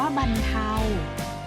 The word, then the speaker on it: บรรเทา: สม บท ค่ะ บรรเทา ออก เสียง ว่า บรรเทา หมาย ถึง ที่ เรา